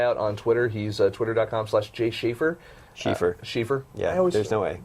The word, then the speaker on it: Schiefer: Schiefer. Schiefer. Yeah, there's no way. I know. It's German, so the second letter gets pronounced.